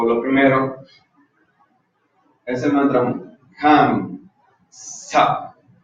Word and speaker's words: Ham Sa: Ahorita vamos a decir otros aspectos, pero lo primero es el mantra Ham Sa. El Ham, no, lo estoy diciendo. H, se escribe así. H-A-M S-A-H. Ham Sa.